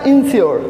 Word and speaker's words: insure: इन दोनों का प्रोनाउंसिएशन क्या होगा, सेम होगा। एंश्योर और इसका क्या, इंश्योर।